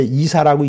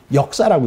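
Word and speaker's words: 易事: 심력자 바꿀 역자 일사자 요건 이제 이사라고 읽지 않고 역사라고 읽어야 돼요 우리가 요건 쉬울이 바꿀려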